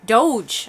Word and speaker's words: Doge: Is it supposed to be pronounced I looked it up. Coin? It's Doge. Doge.